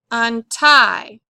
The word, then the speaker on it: untie: The accent's going to go on tie. Untie.